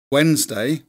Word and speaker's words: Wednesday: Because actually, Wednesday, we say, you know, as I pronounced it correctly, Wednesday, it's spelt Wednesday.